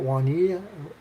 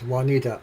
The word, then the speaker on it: Juanita: Yes, Juanita. Okay. Because you know you have a J there, and I wasn't sure if you say it like a W, like Juanita.